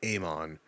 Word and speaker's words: Amon: It is Amon. They say it in the game, they say it everywhere else. I'm just dumb. Thank you. And don't get me started, because once we get into Amon and Rafa, they seem